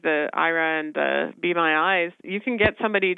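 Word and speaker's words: Aira: It's called IRA and it's spelled with an a I a believe it or not.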